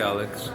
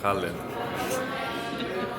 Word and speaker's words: Khaled: Like I tell them my name is Khaled and they're like, okay, Alex. I'm like Khaled.